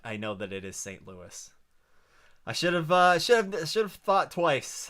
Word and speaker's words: St. Louis: Well, I should get roasted for one of those pronunciations. No, it's St. Louis.